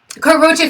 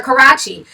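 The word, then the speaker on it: Karrueche: I remember you could not say Karuchi for nothing. I couldn't. I could not say her name. I used to always call her Karachi.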